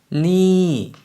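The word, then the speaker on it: นี่: 그래서 니라고 올렸다가 내려주시면 되고요.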